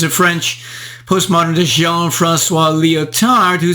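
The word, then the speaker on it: Lyotard: French post-modern Jean Francois leotard who said it is our business not to supply reality but to invent allusions to the conceivable which cannot be presented interesting how leotard's last name oddly rhymes with and finally in the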